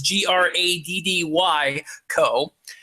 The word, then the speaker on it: Graddy Coe: Spelled with two D's, so it's Graddy Coe.